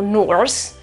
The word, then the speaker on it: Norse: Non pronunciamo Norse, pronunciamo Old Norse. Vedete che non pronuncio la R?